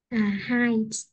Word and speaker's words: height: Height. Này mình sẽ đọc là height.